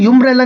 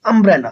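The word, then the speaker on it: umbrella: मैंने बोला अंब्रेला। इसको हम यंब्रेला नहीं बोलते हैं। अंब्रेला।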